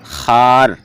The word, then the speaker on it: خوار: خوب، خواب کا خواب، خوار کا تلفظ خار، اسی طرح خوش کا